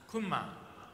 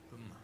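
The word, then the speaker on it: Gunma: How do you say it in Japanese? Kunma. Kunma. Okay. Kunma.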